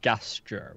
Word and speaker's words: gesture: He doesn't gesture with a hard G. No, So it's what- it's what- definitely gesture.